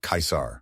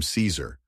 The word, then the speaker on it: Caesar: at least historically accurately to say it correctly you want to say something something like kaisar hard k i and SAR rhymes with car of course if you do